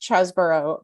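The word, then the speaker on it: Chesebro: just to be clear is it cheeseburger or chesborough has anyone ever so according according to the Washington Post and uh airmail it is pronounced chasborough but his nickname in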